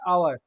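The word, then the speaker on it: hour: He weighted dash, he waited for dash আওয়ার, এখানে কি হবে, এইচ আছে। এবার তুমি এইচ থেকে কনসোনেন্ট বলে এ বললে কিন্তু হবে না। আওয়ার, আ, আ মানে কি স্বরধ্বনি, আমি ফার্স্ট ক্লাসে পুরো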